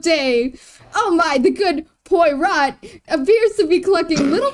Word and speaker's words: Poirot: How do you pronounce that? Oh god. Poirot.